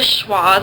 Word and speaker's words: schwa: And it just sounds like You'll only hear that in unstressed syllables. So for example, in America, the first sound and the last one are schwas. It kind of sounds like as in putt, but it's more relaxed.